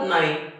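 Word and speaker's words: know: असतात शांत असतात हालत नाही बोलत नाही चालत नाही त्यांना सायलेंट लेटर म्हणतात म्हणून नो या शब्दामध्ये के हा सायलेंट आहे त्याचा उच्चार होत नाही तरी तो लिहावा आणि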